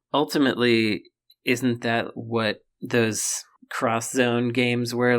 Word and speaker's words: X Zone: zone yes exo yeah cross zone i believe is how it was supposed to be pronounced right yep it was